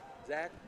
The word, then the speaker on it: Zach: his name at 40 x a c h Zach okay Zach Roberts and the free